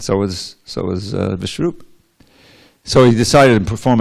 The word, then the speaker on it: Vishnu: says is is that the fool he says vishnaya but the alerted man he says vishnu now the general evocative